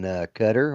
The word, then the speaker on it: Qatar: Uh and then they got uh yesterday he was in Qatar or Qar, however you want to say it. Right. And uh he called it cutter and they didn't seem to want to behead him.